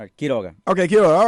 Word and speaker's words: Quiroga: say yeah my will you say last name key toga okay killer all right I had it right